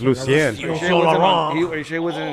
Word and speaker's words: Lucien Laurent: Lucien Laurent from Selección Mexico. Oh. No, that I didn't know that. Lucio Lorenzo. Lucian Laurent. It's Lucien.